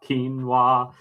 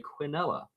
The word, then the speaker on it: quinoa: Quinoa, quinoa, quinoa. Which, by the way, is the American pronunciation. If you go to Great Britain, they'll say quinoa. Some of them will.